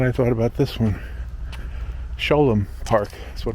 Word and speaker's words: Sholom: thought about this one sholom park is what it's called sh o l o m a lot of people pronounce it Shalom but I know it's sholom it's named after a